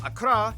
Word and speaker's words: Accra: ho and tamale and of course the capital akra yes that's how you pronounce it akra located in the southeast along